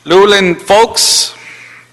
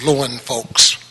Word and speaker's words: Lauren Folks: of those pronunciations worked lulin folks lulun folks you could correct me sir and then after mr folks is now nali kobo yes that's pronounced loin folks good afternoon council members